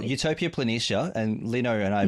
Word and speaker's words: Utopia Planitia: a large basin called utopia planetesia i think that's how you pronounce it well utopia planitia and lino and i